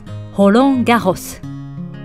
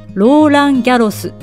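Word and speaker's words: Roland Garros: ホロンが干す日本ではローランギャロスと呼ばれますが実際の発音はだいぶ違いますね先頭の文字はええええですから気をつけましょうさてホロンが干す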